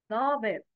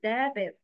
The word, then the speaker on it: ضابط: ضابط. Yes, it's ضابط, not دابط.